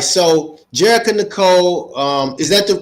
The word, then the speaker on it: Jerrica Nicole: So, Jerica Nicole, um, is that the correct pronunciation of your name?